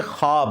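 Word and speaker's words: خواب: नहीं आ सकता अच्छा यह लफ्ज लिखने में है ख्वाब ख व अलिफ बा लेकिन पढ़ने में यह खब है व साइलेंट हो जाता है ख्वाब पढ़ा जाता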